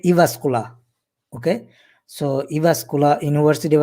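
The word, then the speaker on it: Jyväskylä: j is pronounced like e uh this is pronounced like i i like e in finland so uh we said evascula okay so evascular university of applied science in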